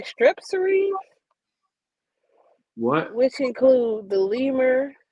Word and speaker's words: Strepsirrhine: Strepsirrhine.